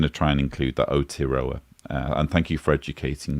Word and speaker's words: Aotearoa: So when I'm going to try and include that Aotearoa.